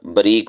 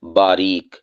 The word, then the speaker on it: باریک: ہے باریکی یا باریک۔ ہم اسے عام طور پر بریک بول دیتے ہیں، بریک بات یا بریکی سے۔ یہ غلط ہے۔ صحیح اس کا تلفظ اور ادائیگی کیا ہے؟ باریک، یعنی با کے ساتھ الف کو ظاہر کر کے پڑھنا ہے اور صحیح طرح اسے ادا کرنا ہے۔ باریک یا اسی طور